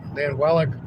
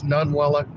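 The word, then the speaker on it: Ninilchik: It's Nunwellick. So I remember that I'm going to make sure that I get myself in the habit of saying it correctly, even though it sounds different than it's spelled.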